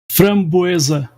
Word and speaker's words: framboesa: Framboesa. Framboesa? No, that's different, bro. No, that's different. That's a different fruit. Oh, you are talking about cranberry. Strawberry and framboesa are two different fruits.